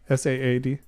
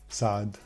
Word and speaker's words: Saad: S-A-A-D? Saad.